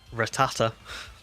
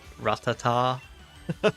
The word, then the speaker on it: Rattata: to say this name Rattata my brain wants to say ratata it's definitely not that he's definitely R Rattata congrats on the shiny